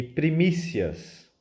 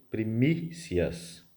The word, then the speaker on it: primícias: do verbo por colocar e Primícias salientando a sílaba que tem o acento no i' Primícias o evangelho retirado de